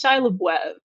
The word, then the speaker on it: Shia LaBeouf: Yeah, that's not how you say it. It's Shia LaBeouf. It means beef in French. He's trying to cover up the fact that his last name is Beef, which honestly sounds better.